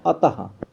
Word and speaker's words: अतः: इसका उच्चारण हा की तरह होता है। जैसे अभी देखिए आपके सामने लिखा अतः, आ ता और विसर्ग लगा दिया गया, इसका उच्चारण कर रहे हैं हम लोग अतः की तरह।